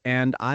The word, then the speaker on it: Andi: I work in an office and I like playing football on the weekend. So that's how you pronounce Andi in Indonesia. Okay, not Andy, but Andi.